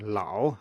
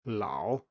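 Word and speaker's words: 老: next we also have an a that comes before ng or o and for example we have this in lao as in old lao and this ah here is further back into the mouth and you can almost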